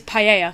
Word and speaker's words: paella: It is paella. That's how we know. The Spanish word is paella because the 2 L's are a Y sound.